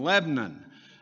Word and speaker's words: Lebanon: And I have to tell people, they say, "You're from Lebanon?" And I said, "No, that's in the Middle East. I'm from Lebanon," and spelled the same way, but that's what we do to it in Tennessee.